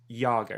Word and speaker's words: Iago: So pronunciation of your name, it's Iago, right? Yeah. Is that right? Okay. In Spanish, an I is more pronounced like an E in English.